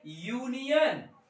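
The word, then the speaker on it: union: हमारे मुह से यू निकलता है जैसे देखिए यूनियन यू एन आई ओ एन यूनियन क्या मु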